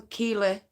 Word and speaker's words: Keighley: Most people are going to think Keighley, that isn't how that's spelt. Right. It is originally pronounced Keighley. But people from Keighley or North Yorkshire, West Yorkshire call it Keighley because we are lazy.